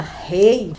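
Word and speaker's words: 礼: A cortesia, que é pronunciada rei, nas palavras do Kamiya Kodo, seria da seguinte forma: samurais, eles não têm razão para serem cruéis.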